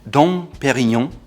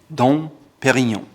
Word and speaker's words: Dom Pérignon: Next up, the champagne brand Dom Pérignon, and if you want to learn whether Dom Pérignon champagne is worth it or not, please check out this video here. Again, Dom Pérignon.